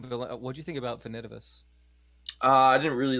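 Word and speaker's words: Finitevus: What'd you think about Finidivus? I didn't really like get into his storyline that much, so I don't have an opinion. Okay. Finidivus is okay. Apparently, it's pronounced Finitivus.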